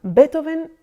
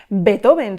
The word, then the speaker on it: Beethoven: empezar para recordar que el nombre de nuestro protagonista no se pronuncia, como solemos decir en castellano, Beethoven, sino que la pronunciación correcta de su nombre y apellido es la siguiente: Ludwig van Beethoven.